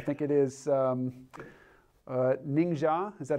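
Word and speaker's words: Ningxia: it up I think it is um uh ninga is that how it's pronounced ninga yep so what's ninga like in 2050 sure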